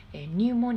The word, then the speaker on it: pneumonia: ていました入門やこれね pneumonia だからちょっとスペル見てすぐ発音しづらいたものなん